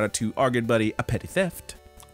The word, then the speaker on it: A Petty Theft: to our good buddy, A Petty Theft. Correct. Nice. That is how it's pronounced. Two P's at the beginning, two T's at the end.